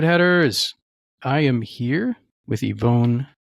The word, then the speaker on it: Yvonne: Nerd headers, I am here with Ivonne. Did I say your name correctly or is it? Good enough. Good. Yeah, usually I just say Ivon. My uh the Chinese pronunciation.